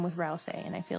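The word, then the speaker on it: Ralsei: Someone pronounced Rousey Rousel once. I'm not that bad. It's Rousey how you said it.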